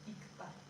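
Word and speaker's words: 읽다: To read, and it is pronounced E. So they don't pronounce this one, this L, right? They only pronounce this because it is followed by a consonant. So this is pronounced ikta, right?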